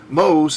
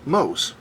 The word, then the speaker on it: mhos: Remember, mhos is the inverse of ohms. It's spelled in reverse and is pronounced in reverse.